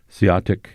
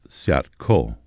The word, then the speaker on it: Seeahtic: Seeahtic is a Klallam pronunciation. All other tribes pronounce it Seeahtico.